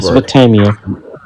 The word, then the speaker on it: Mesopotamia: I just see it as a myth from I cannot pronounce this word. Mesopotamia.